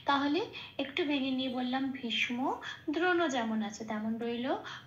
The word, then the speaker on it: ভীষ্ম: যেমন ভীষ, এখানে শটা স হিসেবে উচ্চারিত হবে না, শটা সবসময় আগের অক্ষরের সাথে জুড়ে উচ্চারিত হবে, ভীষ হয়ে যাবে।